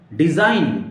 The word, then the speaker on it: design: डिजाइन, DESIGN, डिजाइन, जी की जरूरत नहीं पढ़ने की, आपको जी को ड्रॉप करना है हर कंडीशन पे, नहीं तो गलत प्रोनाउंसिएशन होगा आपका, ओके।